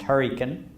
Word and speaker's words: Hurricane: was a country lawyer in hurricane West Virginia which we pronounced Huracan my mother was a